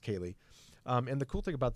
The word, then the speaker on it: Ceilidh: It's if you can see on the screen, I don't know if you can see how it's spelled Ceili, but it's pronounced Ceilidh.